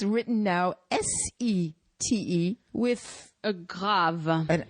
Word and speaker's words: Sète: you go so today set set set is pronounced like the article set it means a sh TI te and guess